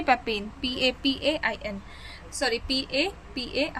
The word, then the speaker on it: papain: पैपिन, पैपिन, पैपिन। ठीक है, पैपिन, PAPAIN, sorry PA, हाँ सही तो बोल रही हूँ स्पेलिंग, PAPAIN, पैपिन।